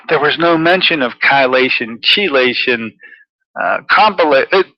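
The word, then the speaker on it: chelation: about K KY which I didn't learn to pronounce as its proper term kation and uh it was written by doctors and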